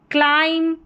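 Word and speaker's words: climb: जैसे लम टम कॉम क्लाइम और ये है बॉम। क्या है? बॉम। बी यहां पर साइलेंट है।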